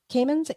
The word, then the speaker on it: Camins: And her last name is is it pronounced Camins? Camins? Camins? Yeah. Camins, c a m i n s.